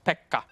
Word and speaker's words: Pekka: uh well in in in Finnish because it's double k it's pronounced long so it's Pekka like that I think